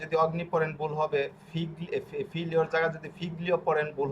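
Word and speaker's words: figlio: এই যে এটা কিন্তু ফিগলিও না, এটা হবে কি ফিলিও, ফিলিও, ঠিক আছে।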